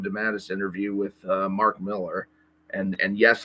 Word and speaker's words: Millar: the the JM dadus interview with uh Mark Miller and and yes like most people and I I used to think his name was pronounced Mark malar but apparently Miller is the common uh uh